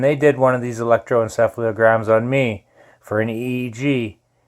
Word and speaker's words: electroencephalogram: Quite Brobdingnagian, a bit of a gigantic word, but an electroencephalogram is normally used for doing mind mapping in the case of like an EEG.